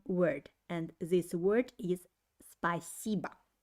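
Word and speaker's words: спасибо: to sound more natural the accent is put on the second syllable while the last o actually isn't pronounced clearly i don't say spacebo i say spiciba spiciba spicybam means thanks and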